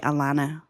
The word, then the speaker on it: Alena: Mine's um Alena cuz I say Alana.